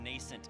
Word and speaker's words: nascent: Hey, it's only two syllables, my dude. Nascent?